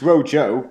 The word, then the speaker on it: rojo: it's Rosie it's basically it's Rojo but H in Spanish it's pronounced like a rougher this waiter was Italian